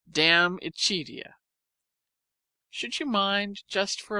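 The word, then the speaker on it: De Amicitia: We finished Libby and Danut and are now engaged with Diamichia, pronounced damichia.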